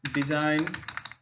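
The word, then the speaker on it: design: तो जी इज not often pronounced when it comes before N, मतलब एन से पहले जब आता है जी हमारा, तो जी का प्रोनाउंसिएशन नहीं करते हैं। जैसे चंपाने, फॉरेन, shine, fan, फॉरेन, डिजाइन, align, ये तमाम सारे वर्ड हैं कि जिसमें जी का प्रोनाउंसिएशन नहीं होता है।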